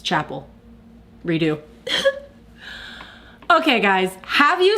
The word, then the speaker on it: Chappell: I talked about this on my Instagram story, but have you seen the video of Chappell Roan in, that's not how you say it, is it? It's Chappell.